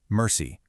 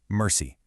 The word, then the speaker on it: mercy: A trochee is the exact opposite, an accented syllable followed by an unaccented one, giving a falling beat. Mercy. Mercy.